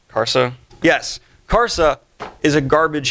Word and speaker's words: Karsa: being Karsa because I say his name right kharsa yes Karsa is a garbage human being he